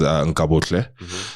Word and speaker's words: Nkabohle: It's so like how I said is Nkabohle.